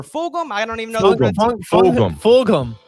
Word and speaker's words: Fulgham: Fulgham. The G is pronounced. Okay, so Travis Fulgham, he had himself a 42-yard touchdown catch from Wentz that pretty much put the game out of reach.